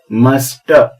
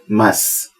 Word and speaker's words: must: इसका pronunciation मस्ट ऐसा नहीं है, इसका प्रोनाउंसिएशन है मस्ट। यू मस्ट गो, ऐसा लगता है जैसे टी नहीं के बराबर बोला जाता है, मस्ट।